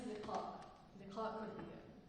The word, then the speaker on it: Leqaa Kordia: We want to make sure we're pronouncing her name right. My name is Leqaa Kordia.